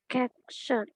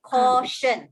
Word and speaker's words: caution: Caption. Caution. Okay, CAU reads as call. Okay, caution.